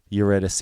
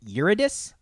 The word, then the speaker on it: Eurydice: Now, I have always heard it as Eurydice or something like that. Uh-huh. We went so far as to look up the proper pronunciation. Eurydice. I've heard two different versions of it. Okay. But it seems like Eurydice is the name.